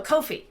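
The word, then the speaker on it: Ko-fi: mightymur i'm also at kofi kofi no kofi right rhymes with no fee uh k-o-f-i dot com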